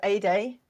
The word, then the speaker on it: Ede: super excited to have a day on today and and I'm so I love the mnemonic that you gave us to kind of pronounce that like a sunny day uh because of course